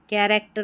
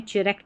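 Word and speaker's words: character: कैरेक्टर में चरे नहीं पढ़ा।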